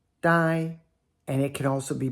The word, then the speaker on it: 呆: Here's first tone, die, die, and it can also be pronounced I.